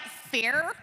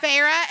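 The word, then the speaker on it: Feyre: learned from Aaron yesterday she did not know it was fav she thought she was like fair so she's been saying it wrong for seven books uh so this is uh Farah and Rees Farah Farah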